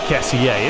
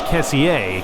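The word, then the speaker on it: Kessié: I believe the proper pronunciation is Kessier, because him being French, but of course Kessie works as well, either or.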